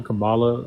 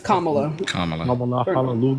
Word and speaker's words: Kamala: know what I'm saying that's not how you pronounce her name CA Kamala it's kamulu it really don't matter